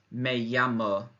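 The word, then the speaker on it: me llamo: to say I'm called or my name is may yama may yama and you'll notice again it's a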